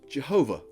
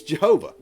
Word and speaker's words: Jehovah: we did it it's Jehovah well not so fast these two vowel points of God's Divine name are near matches to the vowel points of the Hebrew words Adonai and Elohim and these words mean